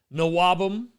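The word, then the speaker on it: NWOBHM: Nawabum, as some people like to say. I guess the H is silent for them.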